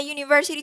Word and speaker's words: university: So here, as we can observe, the word university starts with the vowel U. But this is in spelling. In pronunciation, when we are using the word, we are not using the vowel U. We are pronouncing the G sound, which is a consonant sound. So this sentence is pronounced in the following way: Mr. Macias is a university teacher.